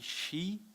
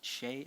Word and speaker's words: Hsieh: So I read and I said Zappos CEO Tony she I didn't know you had to pronounce it Hsieh at the time, but found out later adopt holacracy or leave